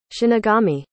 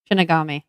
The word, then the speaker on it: Shinigami: need to hear it shinagami anagami Shinigami that's how it's pronounced okay I can do